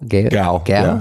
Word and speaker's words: Gal: Gal? Gal.